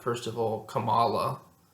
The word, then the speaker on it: Kamala: not first of all Kamala let alone kamla how you actually say her name it's it's it's just